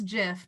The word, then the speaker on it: gif: just want to tell you i know it's jif but i say gif and it is what it is guys i know it's pronounced gif you don't need to like shame